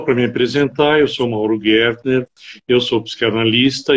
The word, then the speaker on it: Gertner: Pronunciei certo, Mauro? E aí Perfeito, Mauro Gertner.